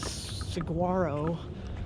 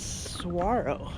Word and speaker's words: saguaro: the right pronunciation like i thought it was saguaro but it's saguaro so saguaro that's aguaro